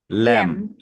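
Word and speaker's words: lamb: পড়ি এটাকে ল্যাম ল্যাম পড়ি বাট এটার উচ্চারণটা কি ল্যাম উপরেরটা কি খম মানে হচ্ছে বিটা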